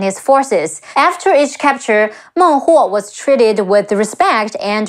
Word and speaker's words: Meng Huo: Also, let's not forget King of the Nan Man, Meng Huo, Me Eng, Meng, He Wu O, Huo. Meng Huo.